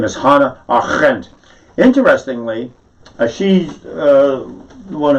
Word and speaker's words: Hannah: i i am not the best one for pronouncing things properly and i totally uh i've always called her hannah a rent it's not it's hana the r is rolled and the r e